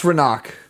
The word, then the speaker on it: Renak: It's Renak, is how it should be pronounced.